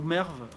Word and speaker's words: Merv: doit être marie ou Merve la grande ville au bout mer il paraît qu' il faut prononcer le E qui pas merde et toute façon les